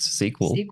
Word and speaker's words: SQL: I'm familiar enough to tell you it's pronounced sequel.